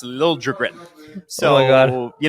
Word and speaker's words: Liljegren: Yeah, it was Liljegren, and then he wants it now pronounced Liljegren.